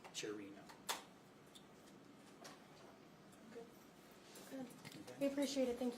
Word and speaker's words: Chiorino: Could you pronounce his first and last name again so we have the correct pronunciation? Philip Chiorino. Philip Chiorino, okay. Yeah, Chiorino is his last name, Chiorino.